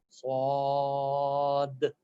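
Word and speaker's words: ص: Ain, Sad, D at the end.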